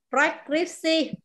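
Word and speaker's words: preskripsi: Pemeriksaan, prescripsi. Cái này nó hơi có âm bờ, bật lưỡi đằng trước, bật hơi đằng trước nhá, hơi khó đọc một tí.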